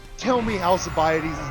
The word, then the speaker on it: Alcibiades: Alcibiades isn't how you're supposed to pronounce it. It's really Alcibiades.